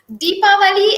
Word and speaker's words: Deepavali: So Deepavali and Diwali, as in DIVWALI, is the same thing. Okay, it's the Yep. same thing, referring to the same occasion. It's just that Deepavali are the Southern Indians pronunciation of Deepavali, Yep. Deepavali, whereas Diwali is more of a Northern Indians pronunciation.